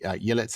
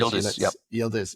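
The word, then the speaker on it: Yıldız: The Oakland goalkeeper Moira obviously Yellet, the Juventus striker. Is that Did I pronounce that correctly? Is that right? Yielders.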